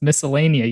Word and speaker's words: miscellanea: No, it's also pronounced miscellanea. You just do not pronounce the C. The C is silent.